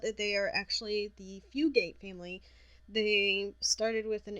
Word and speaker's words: Fugate: it up go ahead fugate su GA te I believe most people pronounce it few good women pair is about